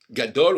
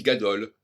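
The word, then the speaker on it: גדול: Gadol, on dit gadol, alors qu'on devrait dire gado et gedola.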